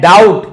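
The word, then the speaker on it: doubt: डर के कारण एंड डाउट यहां बी साइलेंट है।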